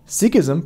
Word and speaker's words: Sikhism: Sikhism, pronounced like Sikh, not Sikh, started here in Punjab, pronounced Punjab, not Punjab.